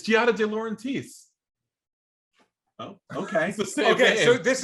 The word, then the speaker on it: Giada De Laurentiis: i never heard this name like somebody else pronounce it for me already i've been like guided it's giada de laurentiis oh okay okay so this is oh nate